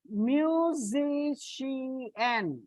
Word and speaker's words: musician: Like musician. Musician. So from the end, second syllable.